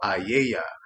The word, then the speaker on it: A.A.A.Y.A.: So classes and courses of A.A.A.Y.A, which is how it's pronounced, I didn't even know it had a